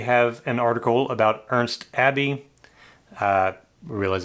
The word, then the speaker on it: Abbe: an article about ernst abbey uh we realize that's probably not the correct pronunciation it's german could be abbe uh but it is